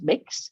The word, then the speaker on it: Mx: So sometimes I have people use MX, which is pronounced mix, instead of Mr.